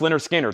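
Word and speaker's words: Lynyrd Skynyrd: Leonard Skinner, pronounced Leonard Skinner, $36.99.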